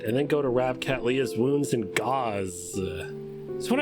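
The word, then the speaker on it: Cattleya: Oh, it's pronounced Catleya? Oh, Catleya.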